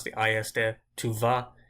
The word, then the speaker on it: tu vas: Tu vas, you can't really hear an S.